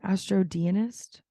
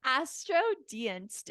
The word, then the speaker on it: Astrodienst: Astrodienist? Deist? Astrodienst.